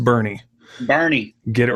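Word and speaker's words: Boerne: that's texas for you it's kind of like bowern texas no it's pronounced bernie barney get it right yeah exactly i'd love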